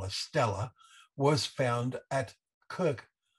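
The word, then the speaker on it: Kurkh: what they call a stella was found at kirk spelt with with a k k-u-r-k-h as we see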